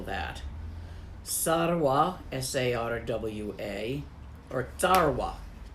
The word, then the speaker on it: Sarwa: Sarwa, S-A-R-W-A, or Tarwa. It's actually not quite a S, but a hard S.